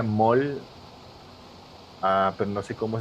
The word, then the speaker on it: Maul: Se pronuncia Maul.